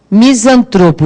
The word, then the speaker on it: misantropo: Misantropo, já vou até falando como é que é a pronúncia dessa palavrinha. Olha lá, misantropo. Qual é a sílaba tônica de misantropo? É o tro.